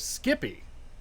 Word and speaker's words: SCPI: all right so eps you can pronounce scpi as skippy to sound like an industry expert okay i've never heard